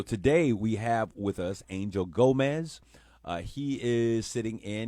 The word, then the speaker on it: Angel Gomez: Would you please pronounce your name the way that is intended to be pronounced? Yes. My name is Angel Gomez.